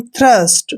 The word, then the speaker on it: thirst: और यहाँ पर देखिए THIRST, इसको पढ़ते हैं हम थ्रस्ट। थ्रस्ट मीन्स क्या होता है, प्यासा। तो यहाँ पर टी का उच्चारण हमने थे किया है, क्योंकि टी के